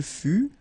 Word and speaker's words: fut: Il fut, final T not pronounced. Elle fut. Okay, so basically you get only one phonetical form here, and it's fut, fut, fut, the same.